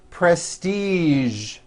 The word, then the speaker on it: prestige: television very good now there are only a few words that have the voiced z sound at the end a few of these words are the color beige the word massage and the word Prestige okay now that you